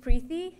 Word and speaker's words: Preethi: okay all right so my name is prey it rhymes with peeee um I continue to